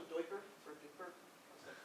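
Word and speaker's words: duiker: if there's any, Chris, is that called a doiker or duper? How's that pronounced? Do you know? Okay. So those things. Diker?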